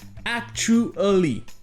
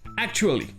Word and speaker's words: actually: Tout ça, ça donne actually. Actually. Mais très souvent, vous l'entendrez prononcer sans le son ou.